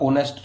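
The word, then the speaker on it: honest: जैसे ओनेस्ट में हमने देखा था, ओनेस्ट में होनेस्ट नहीं होता, ये ओनेस्ट होता है।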